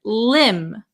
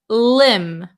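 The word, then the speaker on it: limb: B Marcel very good the B is also silent so we would pronounce this word Lim Lim Lim okay then the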